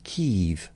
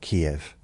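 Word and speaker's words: Kyiv: And three years ago, the people in charge of this country decided that it's called Kev. It's not Kiev.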